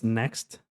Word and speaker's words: next: Tem um som de K no meio. Next. Next. Não que você vai falar a letra K, mas você fala next.